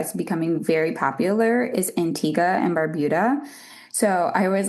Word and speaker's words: Antigua: So I always like to say Antigua and Barbuda because sometimes people pronounce it as Antigua, but that is not the island. Antigua is in Guatemala, so the island is Antigua.